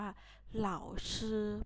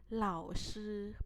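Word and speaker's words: 老师: ศัพท์ ที่ 5 นะ คะ เขา อ่าน ว่า เหล่า ชื่อ แปล ว่า คุณ ครู อีก เล่า นะ คะ เหล่า ซื้อ แปล ว่า คุณ ครู หา ต่อ ไป คำ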